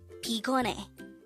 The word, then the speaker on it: 피곤해: is gon and the third syllable is hey pronounce it with me pigone is an adjective which means tired if you